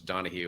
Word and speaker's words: Donahue: Yeah, well, as somebody whose last name is mispronounced many times, when I was in college, my last name, of course, is Donahue. I was called Donut.